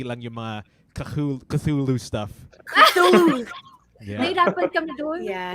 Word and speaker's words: Cthulhu: Cthulhu. Yeah. Nahirapan kami doon. Yeah, nahirapan kami Yeah, actually, pronounce. it's a very weird pronunciation. Cthulhu. Yeah, that's how to say it, everybody.